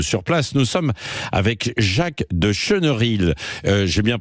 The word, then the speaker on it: Jacques de Chenerilles: relèvent la tête sur place nous sommes avec Jacques de cheneril j'ai bien prononcé votre mot votre nom oui oui tout